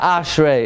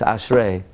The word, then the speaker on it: Ashrei: It's not Ashrei, it's Ashrei.